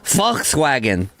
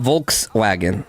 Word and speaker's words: Volkswagen: I saw a video of the other day that was like, it's Volkswagen, not Volkswagen. It's Volkswagen. Just like, you know, how do you properly pronounce stuff?